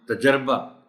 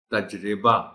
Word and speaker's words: تجربہ: کے مرتکب ہوتے ہیں۔ ہم تجربہ کہنے کے عادی ہیں جبکہ صحیح تلفظ اس کا ہے تجربہ، اور جمع کے طور